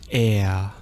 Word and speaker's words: R: For Hochdeutsch, Standard German, I guess the most common pronunciation of R is a kind of guttural R that comes from the back of your throat.